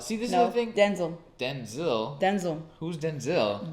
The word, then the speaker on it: Denzel: So, Denzel. See, this is the thing. Denzel. Denzel. Who's Denzel? That's how his name is originally pronounced. Oh, wow. Denzel. Yes, like it was Denzel like Washington.